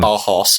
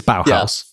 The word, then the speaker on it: Bauhaus: bauhaus i don't know it's pronounced like bar horse or something no no but it is bauhaus their idea was basically